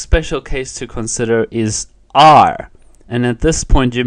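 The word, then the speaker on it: 二: your accounting in Chinese you will just say our so for example e our San one two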